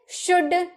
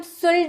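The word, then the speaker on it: should: उसी तरह से शुड, शुड में भी हम शुल्ड नहीं बोलते हैं ना, शुड बोलते हैं।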